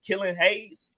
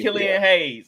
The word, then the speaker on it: Killian Hayes: I always go under on oh is it killan Hayes did I say his name right Killian yeah Killian hay Killian Hayes I always go under he he's a good